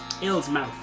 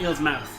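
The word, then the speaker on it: Illsmouth: this is illegitimate 1910 ill's mouth yes myth that's how you pronounce it i'm going to call that eel's mouth you do that no no you're fundamentally wrong now you have control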